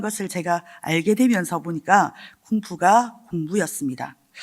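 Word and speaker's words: 功夫: 중국어로 공부를 뭐라고 읽는지 아십니까? 쿵푸. 네, 중국어로 공부를 쿵푸라고 읽습니다.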